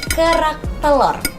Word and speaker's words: kerak telur: Can you say it like kerak telur?